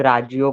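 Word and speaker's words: ラジオ: Okay, तो radio को वो जापानीज लोग राजियो करके प्रोनाउंस करते हैं, राजियो।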